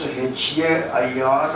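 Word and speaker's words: heir: I asked in the class back in the US, how to pronounce H-A-I-R and H-E-I-R. H-A-I-R is this, not much of it is there, but it is this. H-E-I-R. The hair of the throne, etc. Both the sound is similar.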